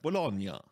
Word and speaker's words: Bologna: But I guess if you're Italian, it's more like Bologna.